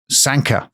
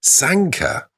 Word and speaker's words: Sanquhar: We're going to a place called Sanka. Sanka? Sanka, but spelt Sanquhar. So it's pronounced Sanka, but it's spelt like Farquhar.